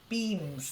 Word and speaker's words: beams: okay then beans bam say e B beams that's it just say e and ignore the fact that it's um there's an a there it's like beans Bim yeah you still say